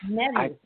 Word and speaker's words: Medhus: When I saw the show, Erik Medhus, or Medhus, I'm not sure how to say his name. Yes, Medhus.